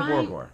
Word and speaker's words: Borgore: Okay, yeah, so it's Borgore. Just the way I stress the wrong syllable and they laugh at me.